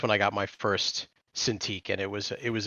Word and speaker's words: Cintiq: Um, we got Bananaama says, "Honestly, I prefer to use my tablet versus my Cintiq." Is that how you say it? Cintiq. Yeah, Cintiq.